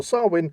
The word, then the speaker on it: Samhain: actually refers to it as Samhain right well sarwin fair enough that's actually sounds a lot more creepy yeah well sarwin is the the nature pretty much silent but